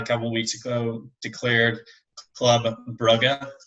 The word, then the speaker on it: Club Brugge: So Belgium, a couple of weeks ago, declared Club Brugge, as it is pronounced. I learned that recently.